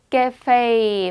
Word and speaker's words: cafe: 그래서 cafe 발음이 여러분. 강세 뒤로 빼고 다시 cafe.